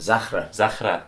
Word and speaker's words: Zara: Yeah, Zara, she's also a lover of the also show. pronounced Zahra.